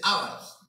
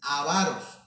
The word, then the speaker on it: avaros: No se dice ávaros, porque no lleva acento en la A, sino es avaros.